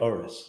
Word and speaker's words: Urus: I like how you say it too, Urus.